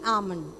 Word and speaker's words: almond: which one almond almond it's not am almond if when you say ah then L is pronounced but L is silent so it is almond what if so I